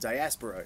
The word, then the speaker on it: Diaspora: Yeah, sorry, that's how you say it.